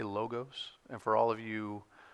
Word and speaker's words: logos: I'm going to say logos and for all of you awe people I apologize in Greek the letter is Omicron and so there is another o the Omega which gives a long o but I grew up